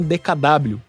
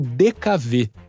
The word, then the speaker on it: DKW: sob licença da alemã DKW também pronunciada como dkv siglas que em tradução